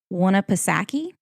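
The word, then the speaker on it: Winnipesaukee: land leah's gonna like this word around lake wanapasaki oh that's kind of fun to say no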